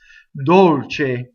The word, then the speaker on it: dolce: Dolce K cool Dolce I doubled the C notice how I did it it wasn't a hard doubling it was just a little space Dolce closed Oh sous-sous row so again